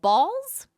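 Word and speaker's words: Bawls: an energy drink called balls just like it sounds but spelled with a w so ba like paw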